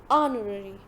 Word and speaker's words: honorary: is paid is called honorary honorary honorary so please make sure your itch is silent next a voluntary fee